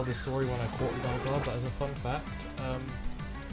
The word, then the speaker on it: Gligar: Silver, that I realized that it's spelled Gligar, and, you know, said Gligar. It's not Wingard.